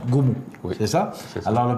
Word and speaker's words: Ngoumou: Si vous voulez rencontrer le père, ça s'écrit Ngoumou, mais ça se prononce Goumou.